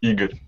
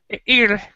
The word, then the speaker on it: Igor: well, I think you wouldn't be able to pronounce it. It's Igor, right? Well, it's actually Igor. Igor.